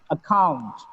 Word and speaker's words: account: Now, if the second C is followed by A, O, U, or a consonant, it gets the sound K. You get here, account. It's not a sound, it is account. The second C is followed by O here. That's why the second C gets K sound.